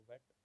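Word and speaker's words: whet: वेट, ठीक है, तो एच साइलेंट है, तो वेट।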